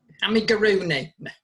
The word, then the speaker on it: amigurumi: Amigurumi. Yes, yeah. How do you say it? Amigurumi, you're right, yeah.